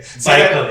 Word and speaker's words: Baikal: Pronounce that again. Baikal.